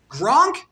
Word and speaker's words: Gronk: Gronk rhymes with Kronk.